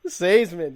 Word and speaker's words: Seesemann: Did I say it right? There you go. You got it, buddy. Seesemann, yes. That's been actually driving me